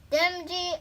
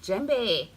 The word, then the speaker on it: Djembe: Yes, Djembe is my name, so the D is silent.